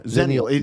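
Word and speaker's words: Xennial: have a ex what how do you pronounce it zenial leaders Zen yeah zenal it's Gen X Millennial it's this cusp you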